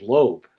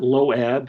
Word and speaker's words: Loeb: I mean they couldn't understand that lobb was not lob was was not low eb. It was not, it didn't have two syllables. I would just go, "It's lo like earlobe." And I just would wait for someone to go, "So, your name is earlobe?" And I would go, "No, silent."